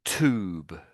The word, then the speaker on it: tube: So another one might be you. So the the Americans say tube. Americans say tube. So YouTube. That's what the Americans say. But the Brits would say you choo.